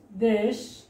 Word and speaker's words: দেশ: যেমন আমরা একটু এখানে দেখি, দেশ অথবা প্রেম, এখানে দেশ এস এ, এখানে সরাসরি দেশ উচ্চারণের ক্ষেত্রে, দেশ শব্দ উচ্চারণের ক্ষেত্রে সরাসরি এ উচ্চারণ হচ্ছে।